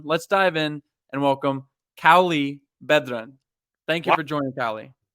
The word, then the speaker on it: Cauli Bedran: a conversation everyone let's dive in and welcome Kali bedren thank you for joining Cali you nailed that pronunciation Grant well done that was yes love